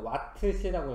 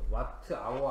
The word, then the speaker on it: 와트시: 아니라 이거를 전력량이 하고 요거를 읽을 때는 이렇게 읽어야 돼 읽을 때는 와트 시라고 읽어야 돼 와트시 와트는 영어고 요거는시는 뭐 한자나 우리나라 말인데 하여튼 이렇게 하기로 했기 때문에 이렇게 읽으셔야 돼 와트 아워 아니고 읽을 때는 와트 시라고 읽 와트시 와트시 이런 식으로 이렇게 읽으셔야 됩니다 그래서 예를 들어서 1w시는